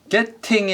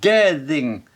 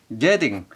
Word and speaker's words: getting: 그래서 getting이 아니라 getting. 우리말의 디귿에 가깝습니다. getting.